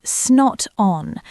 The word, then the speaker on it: not on: Pronunciation, often reduced to snot on with a schwa sound.